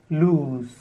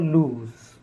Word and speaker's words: lose: the next word is loose the opposite of tight loose and compare this word with the next word verb lose either you win or lose and the next word is a noun form loss so try to understand the difference between loose lose and loss loose is the opposite